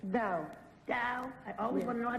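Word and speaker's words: dhow: Dow. Dow. I always Yes. want to know how to spell it.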